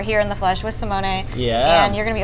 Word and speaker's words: Simone: better this time yes now female male italian simone yes he's the wine maker